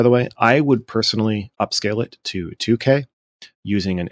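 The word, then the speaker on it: Upscayl: you can also use up scale um upscale spelled like s c a y l it's a free open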